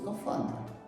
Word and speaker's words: скафандр: Але оця чи ця схема підходить до слова скафандр? Тут нам потрібно звернути увагу на наголос. В слові скафандр. Куди падає наголос? На перше чи на другий склад?